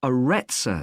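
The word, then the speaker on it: Arretsa: got a rather strange name it's called the aretza center that's spelled a double r e t s a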